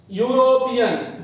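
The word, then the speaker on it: European: अगला देखिए यूरोपियन। Vowel है, ये ई वोवेल है, लेकिन इसके साथ भी लगता है ए। क्यों लगता है ए? क्योंकि यूरोपियन में ई का उच्चारण य होता है, इसलिए यहां पे लगेगा ए।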